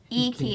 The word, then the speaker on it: Iki: I always say it wrong. That's better than how I pronounce it. Iki Island. Iki Island. Okay, that sounds At one point in my life, someone told me, or I decided it was called Ike Island, and that's just what happened.